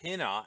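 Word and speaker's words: ἵνα: first word of the cause okay and it's pronounced tena and it always indicates a purpose or at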